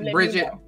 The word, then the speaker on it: Brigitte: That's how it's said here, but it's a Swedish character, so that most people kind of pronounce it in that character's like tongue, because whatever.